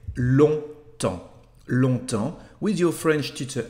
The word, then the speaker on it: longtemps: lesson the word long pay attention to the pronunciation as we don't say this later G and the pns so we just say long long with your French teacher online Pascal and